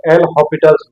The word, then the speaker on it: L'Hôpital: बेटा एल हॉस्पिटल्स rule सही pronunciation है बेटा एल हॉपिटल ये भी लिखा हुआ सही है लेकिन यहां एस साइलेंट होता है ठीक है तो इसको